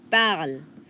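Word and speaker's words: parlent: Parler, je parle, tu parles, il parle, elle parle. Now, the last one. Il parle, elle parle. ENT is silent.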